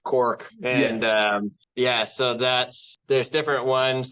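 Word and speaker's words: caulk: I know it's spelt wrong, but it is pronounced cork.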